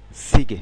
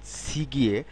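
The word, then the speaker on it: 시계: বইয়ের দোকান এরপরেরটি রয়েছে সিগে এর উচ্চারণটা হওয়া উচিত সি গিয়ে তবে কোরিয়ানরা কিন্তু সি গিয়ে এরকম বলে না এই খেয়াল করুন সিগে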